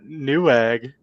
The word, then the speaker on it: Newegg: Who who uses New Eegg. When was the last time we bought something off? New egg. Couldn't even say it right. He didn't even call it Newegg.